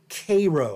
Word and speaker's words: Cairo: is the ruin of the uss k-row i have to be careful to pronounce it correctly the k-row was one